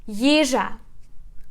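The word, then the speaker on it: їжа: Yizha. Yizha. So we put stress on the first syllable.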